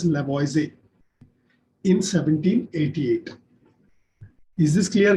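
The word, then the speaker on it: Lavoisier: given by lavoise though it is LA boys here you actually pronounce it as lavoisie in 1788.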